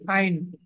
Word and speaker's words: ein: আচ্ছা, এই যে ইন বা সামথিং কিছু একটা বলেন, এটা কিন্তু ইন না, দেখি আইন। ওকে, Ein.